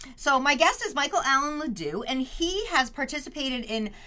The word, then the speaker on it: LeDuc: I just want to say, I should have said before, I pronounce it LeDuc. LeDuc, yes.